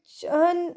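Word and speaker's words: churn: अच्छा ये वर्ड चन इसको प्रोनाउंस करना है। आर इसमें साइलेंट है। ठीक है?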